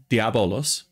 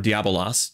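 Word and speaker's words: διάβολος: And the devil, diabolos, okay, or diabolos, depending on which Greek pronunciation systematic you use, and the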